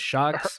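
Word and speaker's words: Sjokz: So it's Shocks.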